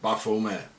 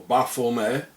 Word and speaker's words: Baphomet: Therefore the name should be pronounced without the T at the end. As the early Templars were French, and in French the T at the end is not pronounced, coming to the exact pronunciation in Demotic.